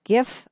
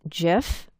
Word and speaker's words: GIF: available to you are the GIF format some people pronounce this GIF both pronunciations are correct I tend to use